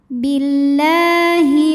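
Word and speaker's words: بالله: Fanya dua harakat wafaillahi lam Jal la dibunyikan secara tarqik sebab huruf sebelumnya berbaris kasrah maka dibacanya tipis bunyinya la Billahi lalu Alif lamnya dinamakan dengan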